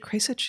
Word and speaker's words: Kasich: Am I pronouncing it Kasich? Yeah, Kasich? Kasich.